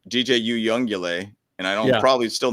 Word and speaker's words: Uiagalelei: This is the exact pronunciation of his name. It's Uiagalelei. Yeah, I ain't gonna remember that, dude. Uiagalelei.